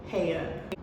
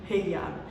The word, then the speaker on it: Hiyab: My first name is pronounced Haya. But if you hear, you know, my mom call me or any other Ethiopians or Eritreans say my name, you're gonna hear Hiyab. And that is because obviously certain words or names are pronounced differently when you say it in English and when you say it in Amharic.